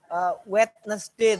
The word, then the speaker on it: Wednesday: tapi kalau sama dengan hari Wednesday tulisannya kan begitu Tapi bacanya tidak d-nya tidak ada yang di tengah nah hal-hal seperti itu